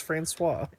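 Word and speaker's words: François: FL when flowerin florus Florance how do you pronounce it uh oh franois is Butler oh is it franois man it's franois the Japanese the Japanese sub really doesn't get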